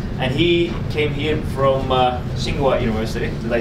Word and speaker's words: Tsinghua: And he came here from Tsinghua University.